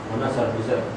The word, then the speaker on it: Munasar: Munasar. What's it? Munasar. How do you spell it? M-U-N. M-U-N? Muna? S-A-R. Munassar, sorry, brother.